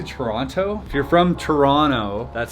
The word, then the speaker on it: Toronto: If you're from Toronto, that's how you say it. You don't say Toronto. That's how you know when someone's not from here. You gotta say Toronto.